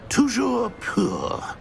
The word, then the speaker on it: Toujours pur: I order you to pronounce it for me. But Master knows that Scrope's French is most pitiful. Very well. Toujours pur.